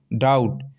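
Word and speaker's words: doubt: और दूसरे एग्जांपल है दी ओ यू बी टी डाउट इसे डी नहीं पढ़ेंगे डाउट पढ़ेंगे ठीक है बी यहां साइलेंट है की नहीं है दोस्तों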